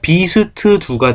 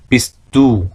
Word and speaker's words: bist du: 근데 독일어는 비스두 딱 두 개밖에 없죠. 비스두 2음절로 끝나야 돼. 비스두 그러니까 발음할 때도 비스트두 이렇게 하지 마시고 비스두 하고 깔끔하게 비스두 베니시 비스두 이렇게 깔끔하게 처리하시면 좋겠고 Er ist 예를 들면 그는 의사 선생님입니다.